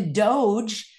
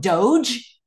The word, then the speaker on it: DOGE: If they're going to call it Doge, DOGE, Department, D for department, O for of, G for government, and E for efficiency, Doge.